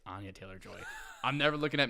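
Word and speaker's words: Anya Taylor-Joy: I loved Voldemort I know and I said Anna Taylor Joy it's Ana Taylor Joy I'm never looking up names again this is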